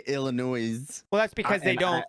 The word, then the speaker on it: Illinois: the letters and like it's not self-explanatory that the s is gonna be silent right like i agree